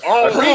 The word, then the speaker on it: Henri: How you pronounce it, Sybil? Just in case. Well, it's Henry. Henri. It's Henri.